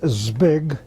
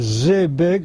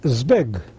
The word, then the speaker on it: Zbig: zed with big following the Zed and it's pronounced Z big rather than Z big like many people say it in English it's Z big and when and where were you born and